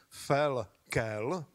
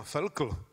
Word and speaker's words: Felkel: Představte si, že on se vyslovuje přesně tak, jak je to na těch obrázcích, Felkel. Takže ti z vás, včetně mě, co ho vždycky zkracovali na Felkl, tak se mýlili a od dnešního dne už všichni víte, jak se správně vyslovuje, Felkel.